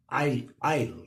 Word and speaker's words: isle: At the same time, Isle, right, S is silent.